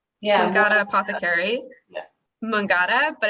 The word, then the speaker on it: Mangata: and pinterest at um i believe is it pronounced mungada yeah we got apothecary mangada but it's m-a-n-g-a-t-a as you can see on